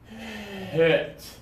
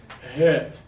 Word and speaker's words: hit: You're doing the high tongue. Push the tongue down low.